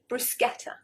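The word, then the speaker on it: bruschetta: restaurant try and get it right order the brusketa right number six this is very commonly mispronounced and it's a bit like espresso we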